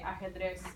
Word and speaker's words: ajedrez: Ajedrez. You kind of like gotta do this thing with a J, but you could just say ajedrez.